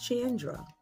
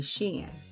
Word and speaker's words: Chandra: My name is Chandra. Now, it is spelled C-H, pronunciation, like ch. A lot of people say Shan or Sean.